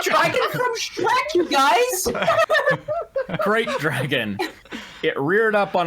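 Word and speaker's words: Krayt: Oh, apparently Spitfire says it's pronounced crate.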